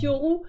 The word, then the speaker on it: Yoru: Moi, normalement, ça se prononce Yoru, mais je laisse Laure m'appeler Yoru.